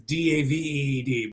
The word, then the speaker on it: Daveed: I call him David because it's Daveed, but I heard some people in the interviews calling him David. So whichever one, but I'm reading it how it's spelled.